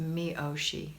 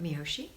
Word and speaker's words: Miyoshi: Kat, it's pronounced Miyoshi. Okay, from Southern California. I love it, Miyoshi. I don't think I was saying it right, but now I will.